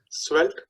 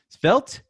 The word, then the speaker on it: Svelte: I've also started slowly looking at, Selvete, I don't even know how you say it.